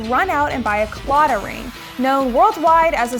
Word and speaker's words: Claddagh: or you could run out and buy a CLA ring known worldwide as a symbol of Irish